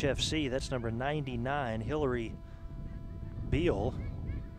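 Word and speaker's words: Beall: That's number 99, Hillary Beal. Maybe pronounced Bell, but B-E-A-L-L, wearing the 99 jersey.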